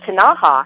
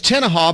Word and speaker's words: Tenaha: Meanwhile, this afternoon, Monday, and I think it's pronounced Tanaha, are kicking off. So you can say that Monday and Tanaha kicked the Cowboys' tails right off of their own field. I'll tell you, it's Tenaha because they're just north of